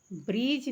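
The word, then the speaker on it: bridge: ब्रीज में D silent है, ब्रीज।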